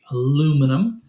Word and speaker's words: aluminum: they pronounce aluminum now it goes back to some historical Roots When there actually was another syllable in the word so some places still say aluminium some places say aluminum and a lot of